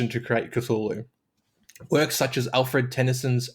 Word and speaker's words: Cthulhu: th yeah oh yeah the trouble is it's a language that is not meant to be spoken by humans so the correct way to say it is is impossible we don't have the